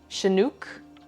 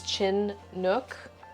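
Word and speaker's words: Chinook: phenomenon there we go I always thought it was a native tribe I don't know yeah it's a it's a kind of salmon as well okay well now I know shanuk phonics would tell us it's chin Nook look I don't know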